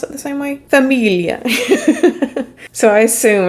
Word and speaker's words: famiglia: And lastly, we have Famiglia, which I guess in Italian, do you pronounce it the same way? Famiglia.